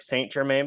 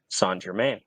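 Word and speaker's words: St-Germain: uses something called uh sand Germaine now this is an elderflower liqueur it's spelled like Saint Germain but it's actually pronounced San Germain uh it's really really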